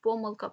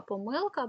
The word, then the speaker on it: помилка: тих наголосів які потрібні є наголос які мають подвійний корисний корисний мабуть та мабуть помилка помилка байдуже байдуже і так далі їх також не